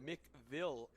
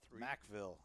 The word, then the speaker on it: Macville: Marcy says Tommy's from Mickville, KL3. Macville. Macville? Yeah, that's I don't see any A's. somebody. Yeah, somebody told me that is how it's pronounced.